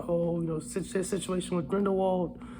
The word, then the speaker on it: Grindelwald: you know situation with Grindelwald or grindel vault I like pronouncing it the right way but I always forget